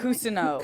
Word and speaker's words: Cousineau: Yes, and Henry Winkler, how do you pronounce it? Cousineau. Cousineau, okay. I Cousineau.